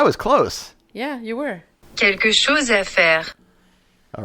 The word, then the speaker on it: Quelque chose à faire: I'm gonna get them to actually pronounce it. Quelque chose à faire. I was close. Yeah, you were. Quelque chose à faire.